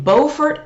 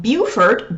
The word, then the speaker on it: Beaufort: After that, January 2020, January 18, 19, and 20 of 2020 in Beaufort, North Carolina, not Beaufort. Beaufort is South Carolina, but spelled the same way.